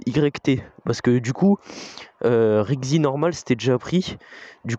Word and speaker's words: RYKZI: Là, on est passé à Rixi, R-Y-K-Z-I.